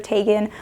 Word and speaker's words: Tegan: do notice when people call me tegan instead of tagan or when they write